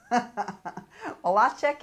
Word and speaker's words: Malacek: Now I said it wrong the first time, Malacek, but that's with the Norwegian accent, so it's Malacek, and he is a collector of cars.